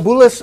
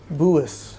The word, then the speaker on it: Bulas: It looks like Bulas, B-U-L-A-S. But he says in Poland it is Buis. The L's are like a W. Buis. Buis.